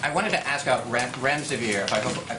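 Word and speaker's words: remdesivir: you so much I wanted to ask out rent REM severe if I pronounced that correctly can you tell say is it currently approved for use on the virus so REM des aveer and it's a drug made by Gilead that's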